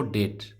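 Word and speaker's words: debt: देखिए, पहला है डेट। क्या पढ़ते हैं इसको, डेट। बी साइलेंट रहेगा।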